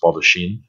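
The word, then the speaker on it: baldachin: crucifix in the middle the baldichon and i've heard that pronounced baldochin and this is the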